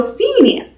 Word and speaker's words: Fenia: an E, because in German the I has the E sound, and then it's N and then A. So Fenia.